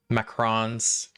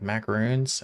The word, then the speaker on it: macaron: to this Bakery and me and my wife were totally mispronouncing it he kept correcting it correcting us and we're just like macaroons and he's like macron so let me get you five macron so it's a whole